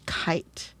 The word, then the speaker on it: kite: It's the word kite. Remember, silent e changes the i to a i sound to the superhero sound.